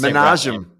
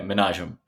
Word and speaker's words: Manajem: Yeah, just Manajem. Yeah, Manajem. It's Yemeni in background, so there aren't many Manajems. No, there's not. And it's the goddamn emphasis on the wrong syllable that just throws me every time.